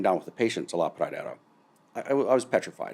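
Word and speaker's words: La Pradera: Spell that again. L A P R A D E R A. Okay. La Praa.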